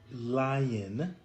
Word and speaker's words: Lion: hear what lion says it's pronounced just like the animal lion so it doesn't uh